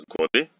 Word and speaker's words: год: We know that voiced consonants like the at the absolute end of a word become voiceless. This is why we pronounce годы, but год.